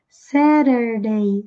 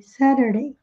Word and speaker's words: Saturday: Atenção à pronúncia de sábado. Esse T no inglês americano vai ficar com som de R. Saturday, Saturday.